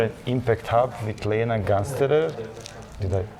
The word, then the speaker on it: Gansterer: So, dear friends, today we are at IMPACT HUB with Lena Gansterer. Did I pronounce it correctly. Yeah, Gansterer.